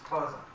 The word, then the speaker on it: Khoza: It's Khoza.